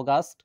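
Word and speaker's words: August: যেমন এমন একটা শব্দ যার উচ্চারণ হলো অগাস্ট, কিন্তু আমরা উচ্চারণ করে থাকি আগস্ট।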